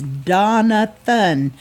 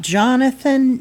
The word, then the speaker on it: Donathan: getting his name wrong it's Donathan not Jonathan not Donovan so he's very adamant about